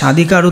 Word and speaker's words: স্বাধিকার: তাহলে স্বাধিকার, এখানে দেখো তালব্যস্যা কেন হলো, দন্তস্য মধ্যন্যস্যা যেটাই থাক সবসময় কী হবে তালব্যস্যা হবে। স্বাধিকার। লাস্টের র, তুমি যদি রটাকে যদি স্বাধিকারের নিচে যদি হসন্ত না দাও তাহলে উচ্চারণ হবে স্বাধিকারও। তা স্বাধিকারও তো কোনো উচ্চারণ না, এটা উচ্চারণ কি স্বাধিকার, যার জন্য তোমাকে এটা কিন্তু হসন্ত দিয়ে লুপ্ত করে দিতে হবে।